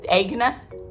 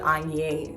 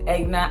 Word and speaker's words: Aigner: been french i mean we could stick with egna or something close to a hungarian accent form of pronouncing egna but not angrier it's never been french